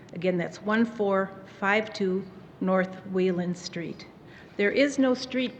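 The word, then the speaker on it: Wieland: observed at the flam residence it's 1452 North Wheeland Street in Chicago immediately following the interment and the family will be sitting shiva there today until 6:00 p.m.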